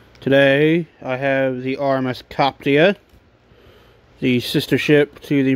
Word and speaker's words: Coptia: drop dead liverpool and that's how how you pronounce it is coptia she has these first of three copyright ships